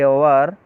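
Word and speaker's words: hour: Question number 43 में it took me almost A आवर to fill the application form. इस sentence में दूसरे part में एरर है। यहाँ पर ओवर में एच साइलेंट है और वोविल की ध्वनि आ रही है और वोविल की ध्वनि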